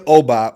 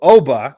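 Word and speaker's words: Ogbah: All right, Emmanuel Obah, which, crazy enough, I'm telling everyone now, you're pronouncing his name wrong the entire time. The G in that situation in Igbo languages is silent.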